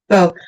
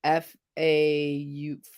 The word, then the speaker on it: faux: Because I thought somebody pronounced faux. I don't see how faux comes out of fox. You know, F-A-U-X, I think it's French.